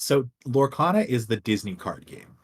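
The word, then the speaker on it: Lorcana: card yes in it what is this Disney Lana what what am am I saying it right what is it it's so lorana is the Disney card game um basically Ravensburger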